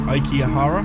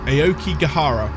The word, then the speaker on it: Aokigahara: I think it's Aikihara. Aokihara. I can't pronounce it. I'm terrible. Aokigahara. There we go.